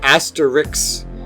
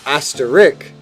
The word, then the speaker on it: asterisk: the 36th is asterisk in parts of the Northeast it's pronounced Asterix up and down the northern coast it's pronounced asterik and in the rest of the country it's asterisk that's a risky pronunciation